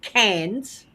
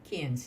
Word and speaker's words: Cairns: difference between saying cans, as Yeah. Australians call it, and cairns, Cairns. Yeah, because it's got an I in the middle. yeah. So it should be pronounced cairns.